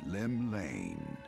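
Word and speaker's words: Llymlaen: drawn the gaze of the nation's patron deity lim lane pronounced it right what realm shaking fate has she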